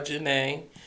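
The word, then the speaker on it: Zhané: DJ by Janae, but the group name is spelled ZHANE.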